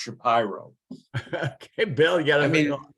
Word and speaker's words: Shapiro: a Shapiro or is actually in Philadelphia it's pronounced Shapiro okay bill yet I mean I think Jessica